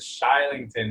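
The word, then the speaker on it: Kylington: it's probably a different pronunciation these Swedish they pronounce it shy Lincoln which is still yeah yeah yeah so they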